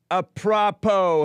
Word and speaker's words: apropos: It's pronounced apropos, Hake. Apropos. Then why is it spelled apropos?